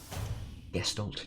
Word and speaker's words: Gestalt: Gestalt gestalt. I'm going to say gestalt like gesture.